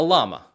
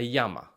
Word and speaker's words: llama: In English, we call it a llama, but in Spanish, it's called a llama. So the double L sounds like our English Y.